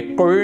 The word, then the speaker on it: could: अब पहले देखिए इसका प्रोनाउंसिएशन देख लीजिए आप, ये कुड नहीं है, अक्सर लोग कुड बोल के पढ़ते हैं, ये कुड है। एल यहाँ साइलेंट रहेगा, जब भी डी से पहले एल आएगा वहाँ एल साइलेंट रहेगा।